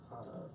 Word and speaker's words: Hana: If that helps you to pronounce it right, Be my guest. I like Kenny Hana. Hana.